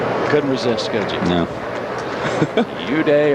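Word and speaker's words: Eude: Uday or Weeday, E-U-D-E is how you spell it, is going to pitch tomorrow night.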